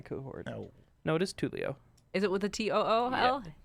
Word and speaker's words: Tulio: He was officially Tulio. cohort. Yeah, I Tulio. had leadership T-O-O-L. indeed in 3.5, so he Leo. was my cohort. No. No, it is Tulio.